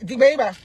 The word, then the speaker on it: Digbe: Mais oui, Digbe, c'est comme ça on prononce en bété, il s'appelle Digbe Tanguy, c'est son nom.